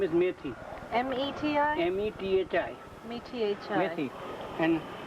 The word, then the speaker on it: methi: methi. Its name is methi.